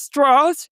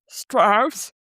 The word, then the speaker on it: Strauss: see former AEC chairman Lewis Strath not to be pronounced Strauss as he likes to remind us in the movie who's played by Robert Downey Jr.